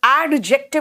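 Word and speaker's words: adjective: आपको एडजेक्टिव सीखना होगा एडजेक्टिव का मतलब एडजेक्टिव नहीं बोल रही बेटा वहां डी साइलेंट है एडजेक्टिव का मतलब विशेषता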